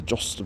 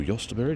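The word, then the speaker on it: jostaberry: This the jostster or Yostberry, depending on how you like to pronounce it.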